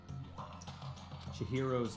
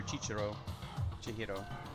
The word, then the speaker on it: Chihiro: you what for real chihiro's killer is chihiro i've been calling her chicharro there's no other c in there that makes sense now i feel dumb